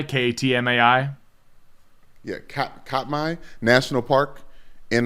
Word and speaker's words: Katmai: The National Park Service website for Katmai National Park has a full breakdown and bracket for Fat Bear Week.